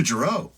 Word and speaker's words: Gero: back in the uh oh Dr gero yes yeah like gyroscope yeah and honestly the